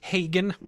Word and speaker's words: Hagen: It's pronounced Hagen.